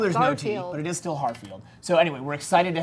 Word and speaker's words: Harfield: We have now been joined by Elisa Wallace and Hartfield. Harfield. I said it wrong. I put the T in. There's no T. No T in Harfield.